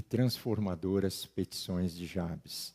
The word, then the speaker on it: Jabes: foi a Jabes em Alguns falam de ABS mas Jabes vamos usar esse termo esse essa pronúncia foi Jabez mais ilustre